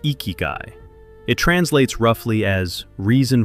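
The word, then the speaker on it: ikigai: The Japanese antidote is ikiguai, pronounced ikyu.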